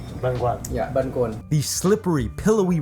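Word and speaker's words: bánh cuốn: Benuan. Benuan.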